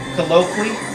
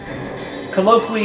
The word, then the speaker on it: Colloquy: said I trust him colloquy or maybe it's colloqui yeah colloqui is the uh it's spelled c-o-l-l-o-q-u-y it's the name of